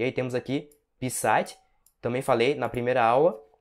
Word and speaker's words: писать: que a entonação, né, a parte tônica desse verbo é no A. Então você vai pronunciar pisать e não pisать, com a parte mais forte aqui no Pi. Se você pronunciar pisать, significa fazer xixi, né?